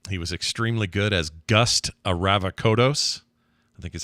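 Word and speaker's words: Gust Avrakotos: He was extremely good as Gust Aravakodos.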